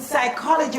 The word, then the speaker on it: psychology: very good and therefore with psychology the silent P you have to just